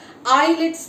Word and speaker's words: islets: The cells which are present in the pancreas, will call it as islets of Langerhans. Islet. S is silent here and we have to pronounce I.